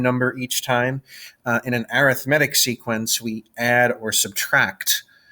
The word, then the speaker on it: arithmetic: The spelling, it looks the same as arithmetic, but it's pronounced arithmetic.